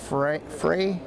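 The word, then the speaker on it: Frueh: That's Macy Frey, F-R-U-E-H, so her last name is pronounced.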